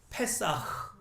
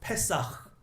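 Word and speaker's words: פסח: 그래요 그리고 히브리어로는 뭐라고요 페사흐 어 흐 발음을 흑 이렇게 하면 안 되고 살짝 흘려야 돼 어 페사흐 예 자 요렇게 잔치를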